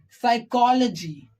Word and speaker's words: psychology: so in that case we have to keep the letter P silent okay understood very simple we can see a few examples of it like psychology psychology psychic psychic pneumonia